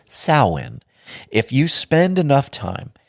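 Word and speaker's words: Samhain: Satanic holidays how about Sam Hayne or if you want to pronounce it properly it is sin if you spend enough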